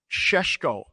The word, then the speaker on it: Šeško: And obviously, for the first time, and we need to pronounce this correctly, mate, including the Mbeumo, Benjamin Šeško. We're going to the disco with Šeško.